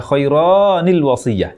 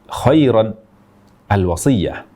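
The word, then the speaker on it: خَيْرًا الْوَصِيَّةُ: alifnya masih ada dan dibaca kironil wasiyah Ini juga salah tidak boleh baca kironil wasiah keluar dari kaidah bahasa Arab keluar dari ayat al-qur'an salah dalam Baca ayat al-quran Lalu bagaimana cara membacanya jadi kiron Al wasasiyah pada dasarnya ada huruf nun di akhirnya yang kita ucapkan jika kita tulis koiron maka akan seperti ini kiron ro berfathah dan ditambah dengan Nun bersukun jika kita Tuliskan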